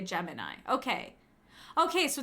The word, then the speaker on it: Gemini: The NASA mission is pronounced Gemini, but otherwise people usually say Gemini.